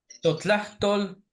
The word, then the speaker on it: totlahtol: Ese se pronuncia Totlatol, Totlahtol.